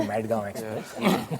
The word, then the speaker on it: Madgaon Express: thank you firstly I Lov the way you pronounce mgam Express to madg express because M yeah it was it was a